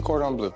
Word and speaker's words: cordon bleu: And then the chicken cordon bleu. I don't know, am I saying it right? How do you say You it? said it perfect. Chicken cordon bleu.